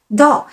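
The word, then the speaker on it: 到: À l'envers se dit Dao en chinois et sa prononciation ressemble à celle d'un autre mot chinois, Dao, qui veut dire arriver.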